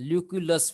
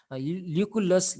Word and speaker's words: Lucullus: Then Lucullus, very particular pronunciation, Lucullus, you can also say Lucullus, let's say Lucullus.